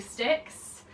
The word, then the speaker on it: Styx: I just finally got through Styx. That's how you pronounce it apparently.